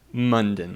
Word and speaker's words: Monden: It's Monden. pronounced like London, but it's not spelled the same, and so I get some interesting pronunciations.